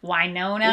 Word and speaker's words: Winona: new jersey totally my impression yeah and it's pronounced winona why nona why not no no okay i'm